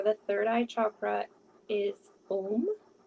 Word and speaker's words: Om: And the seed sound for the third eye chakra is Om. And it is A-U-M because each syllable has its own energetic connection to universal consciousness.